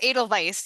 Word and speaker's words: Edelweiss: I have no idea how to pronounce Edelweiss. Oh, Edelweiss. that's Edelweiss.